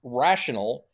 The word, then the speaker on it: rational: The top one is pronounced rational. The bottom one is pronounced rationale.